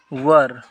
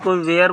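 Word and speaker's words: were: तो यहाँ पर हम आर की जगह वर कर देंगे, दे वर। ये कोई वेयर बोलता है तो वेयर नहीं प्रोनाउंसिएट किया जाता, वर्क कहा जाता है।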